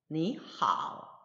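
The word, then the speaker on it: 你好: 거기에 삼성 성조 표기가 되어 있기 때문에 하오로 발음하시면 되겠습니다. 이 두 글자를 합하면 니하오 이런 단어가 되는데요.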